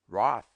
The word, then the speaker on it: wrath: as if written soften often so as solless pronounce venison venson victuals victals wicked wicked womb womb wrath wroth the student will doubtless This marked many other deviations from our rule.